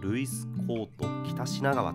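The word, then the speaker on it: ルイスコート北品川: こちらでルイスコート北品川と読みます。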